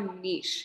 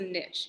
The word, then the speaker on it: niche: So the very last thing we're going to do today is talk about a niche. You might also pronounce this a niche. Either one is the same. It doesn't matter.